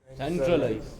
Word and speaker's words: centralize: Next, similarly, ize, it also moves. Okay. 2 syllables before. How would you do it? Centralize.